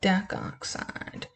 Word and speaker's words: decoxide: So, for example, if we have P4O10, we would not call this decoxide, we would just call it decoxide. We do that just to make the pronunciation a little bit simpler.